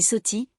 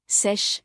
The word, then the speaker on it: Seth: Le nom Seth est prononcé sous plusieurs formes, Seth et Soti, Sesh, Sutek.